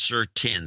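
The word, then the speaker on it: Sir SN10: Pronounced Sir 10. So it's Sir SN. That's chemical 10. It means 10 on the periodic chart. So he's Sir SM, but we say Sir 10?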